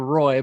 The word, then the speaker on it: Roy: I don't remember exactly why, but there's a video of a famous video of a goalie named Patrick Roy, which is spelled R-O-Y. It's spelled Roy, but it's pronounced Roy because it's French.